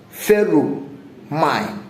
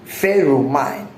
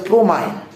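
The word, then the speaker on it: pheromone: but it is pronounced feru mine. Ferro mine. Okay. P H E R O M I N E foot stop ferro mine some people call it promine removing the H and they call it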